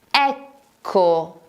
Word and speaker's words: ecco: La parola è ecco. Ecco, che si scrive con la doppia C.